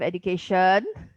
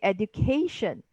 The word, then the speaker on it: education: So here we won't say education. You have education, which is what Singaporeans will say, but we will say education.